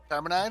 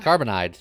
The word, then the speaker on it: Carbonide: Carmenide? Carbonide. There you go. The tracker. I knew I was saying it wrong.